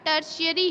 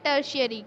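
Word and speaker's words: tertiary: Sector और तीसरा है टर्शियरी सेक्टर। इसका प्रोनाउंसिएशन जो है, प्रोनाउंसिएशन ध्यान से सुनिएगा, टर्शियरी है। ये आपको अब पढ़ने में लगेगा टेरिटरी लिखा है, लेकिन इसको पढ़ते हैं टर्शियरी।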